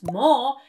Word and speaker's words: 뭐: Another confusion many Korean learners have is that 뭐 does not really sound like M, but more like B.